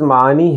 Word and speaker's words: معنی: کا تلفظ کیا ہے۔ تو معنی کا تلفظ معنی ہے، دیکھیے کیونکہ اردو میں عین کا تلفظ یعنی عین کو جو بولا جاتا ہے اس طرح نہیں بولا